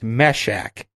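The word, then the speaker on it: Mehshack: how to pronounce it it's meshack m-e-h-s-h-a-c-k okay that makes sense and uh yeah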